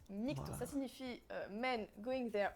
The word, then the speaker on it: MGTOW: fait mes petites recherches déjà ça se prononce nique ton ça signifie men going